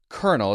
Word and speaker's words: colonel: so let's start with uh let's start with kernel is how it's pronounced but it looks weird so we might